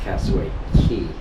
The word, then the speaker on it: Castaway Cay: c k uh cway key c a y pronounced cway key um but anyway um looks like a beautiful